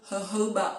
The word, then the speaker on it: jojoba: It is called jojoba oil, but it is spelled jojoba oil.